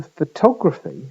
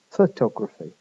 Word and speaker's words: photography: Compare that to photography, where the stress is in different places. In fact, the stress now, the main stress is on the second vowel, the one that was unstressed in photograph. For photography, the o vowel is stressed and it's pronounced o, not schwa.